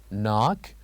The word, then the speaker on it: knock: and here we have number six knock where K is silent and we have number